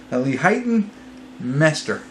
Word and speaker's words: Leighton Meester: Leighton Meester. I think that's how you say it. Leighton is right.